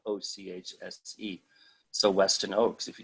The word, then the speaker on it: Ochse: Google that shit, and my name is hard to pronounce if you don't know, but it's pronounced Ochse, and it's spelled Ochse.